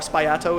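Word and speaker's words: sbagliato: a Resurgence of the spagliato cocktail or spyato is pronounced in the original Italian so it's exactly the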